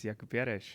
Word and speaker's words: Jakub Jareš: I'm a bit afraid that I do not pronounce his name correctly so please introduce yourself my name is Jaco Piers you said it perfectly okay thank you um